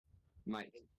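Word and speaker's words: Miiyk: to pronounce his name it's spelled Mi i y k Mike Mike that's right so it's just a weird spelling of the word the name Mike but so compc I don't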